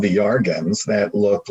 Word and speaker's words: Iarga: But it's pronounced Yarga. Yeah, Yarga, UFO contact from planet Yarga.